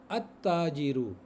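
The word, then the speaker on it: التاجر: साथ अल प्रोनाउंस होगा और ताजिर के साथ अल अल नहीं लाम नहीं प्रोनाउंस होगा तो इसको हम बोलेंगे अ ताजिरू अताजिरु सही है ना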